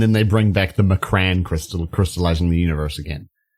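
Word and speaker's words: M'Kraan: The villains pose, and then they bring back the Macran crystal, crystallizing the universe again. Yeah. I always pronounce it Mcron. That's how they said it in the cartoon.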